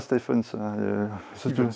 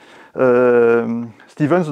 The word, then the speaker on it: Stevens: Rola et Costa oui pas stepens comme comme Stephen King Stepan ça n'existe pas en anglais St c'est Steven ça prononce toujours Steven tout le monde le dit comme fre comme fantasys donc on m'a fait plusieurs fois la remarque quand je travaillais chez coca bref donc c'est Steven Stevens donc c'est un jeu